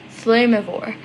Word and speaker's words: Flamivore: Also for clarification, the organization name is pronounced Flamivore, and it is sort of a made-up word.